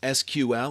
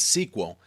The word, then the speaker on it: SQL: SQL structured query language SQL pronounced as SQL or sometimes as sequel is actually the standard language